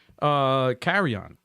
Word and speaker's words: Carrion: So, Carry On. I don't know how to freaking pronounce it.